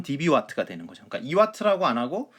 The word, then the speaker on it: dBW: db 와 터라 그러니까 읽을 때는 db 와 트라고 읽으면 됩니다 우선 10db 와트가 됩니다